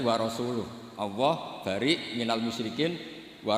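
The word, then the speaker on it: وَرَسُولُهُ: Allah itu terbebas, gak urusan dengan orang musyrik, wa rasulih juga gak ngurus Rasulnya. Kalau sama Rasul saja tidak ngurus, apalagi sama kita. Sama Sayyidina Ali dibenarkan yang benar bacanya itu wa rasuluh.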